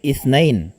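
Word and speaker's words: اثنين: Dito po, sa ithnan, marami po ang nagkakamali dito. Minsan, sa beginners, intermediate, or minsan kahit advanced, nagkakamali po sa pagbigkas sa kanya. Ano po ang sinasabi natin? Sinasabi natin ithnain.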